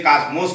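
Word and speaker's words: cosmos: शब्द आता है जिसे कॉस्मोस कहते हैं। यहाँ जो है बिहार में इसको कोसमोस कहा जाता है और उत्तर प्रदेश में इसको कॉस्मास कहा जाता है। प्रोनाउंसिएशन इतना अंतर है।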